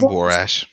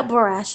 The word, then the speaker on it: Borash: ring um jeremy Borash am i pronouncing that name right probably wrong John Boris Boris okay is it washable yeah brush okay all right all right brush he is signed to